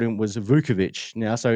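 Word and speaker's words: Vučević: Now I pronounce it Vuchovich cuz I you know Tim Sinclair the ball's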